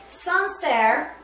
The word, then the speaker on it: Sancerre: or the wine menu, Sancerre, okay, is how you say it.